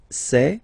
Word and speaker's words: sait: Il sait, final T not pronounced.